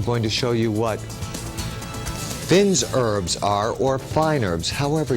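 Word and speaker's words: fines herbes: The correct way to say it is, or classically, Finn's herbs. But we always say fine herbs.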